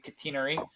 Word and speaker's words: catenary: track um but yes they have a cantenary or as the british say catenary system and um